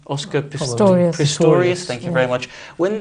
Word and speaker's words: Pistorius: of things when oscar pistorius does that have pronounced his name oscar pistorius thank you very much when this trial becomes